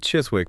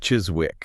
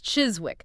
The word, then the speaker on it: Chiswick: You might expect the ez sound of hiss. But the source points out that in the local pronunciation, the ez is often vocalized, which means it sounds closer to a ziz sound.